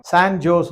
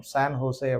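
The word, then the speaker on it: San Jose: ஒரு இந்தியர் வந்து வெளிநாட்டுக்கு அமெரிக்காவுக்கு போறீங்க, எங்க போறீங்க, சான் ஜோஸ் அப்படின்னு சொன்னார். ஓ, இட் இஸ் நாட் சான் ஜோஸ். Visa கொடுக்குற அதிகாரி ஜே வந்து ஹெச்னு ப்ரொனவுன்ஸ் பண்ணுவோம், சான் ஹோசே அப்படின்னு சொல்லணும். சரி, எத்தனை நாள், எப்ப திரும்பி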